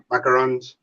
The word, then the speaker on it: macaron: i had yeah macaroon macarons how do you say it yeah the one like you're talking about is macaron the one with the coconut is the one with coconut is macaroon no um oh hold on